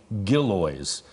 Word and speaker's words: Gillioz: myth so it's actually gillies the emphasis on the first syllable all right from now